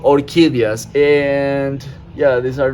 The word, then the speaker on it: orquídeas: In Spanish, it's called orquídeas, and yeah, these are not guarias, but these, these are some exotic freaking plants right here.